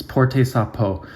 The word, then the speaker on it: Porter Sa Peau: It's Porte Sa Peau. Porte, it's a verb, er is pronounced a, means to wear, and Sa Peau is your skin.